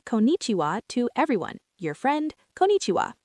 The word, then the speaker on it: konnichiwa: Say konnichiwa. Notice how it feels in your mouth. The N sounds, the chi sound.